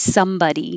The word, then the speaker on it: somebody: By itself, this word is body, body. This word, buddy. However, when the word is written with a compound word like somebody, nobody, everybody, now it's spelled like this, but it sounds like this. Somebody.